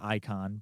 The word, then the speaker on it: Eikon: And when I say icon, that's the summons, and it's spelled sounds like the word icon, but it's spelled EIKON Yep.